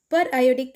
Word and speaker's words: periodic acid: of per iodic acid per iodic acid per iodic acid should be pronounced as periodic rather than periodic as in periodic table it was discovered by henrys gastey magnus and cf amerumula in 1833.